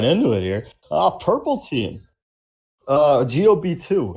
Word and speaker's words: Gob2: GOB2. Or Gob2, as Breon correctly pronounced this episode.